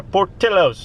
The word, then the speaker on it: Portillo's: i say that but you see the double l and in spanish pronunciation it would be portillo's but no this is portillo i got hungry with